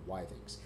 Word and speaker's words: Withings: I I checked with them they call it wthings they've rebranded the pulse to be pulse O2